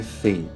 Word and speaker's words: Fein: então bora pro vídeo O seu nome é Fan nas duas pronúncias assim no japonês como no americano fica do mesmo jeito assim também como a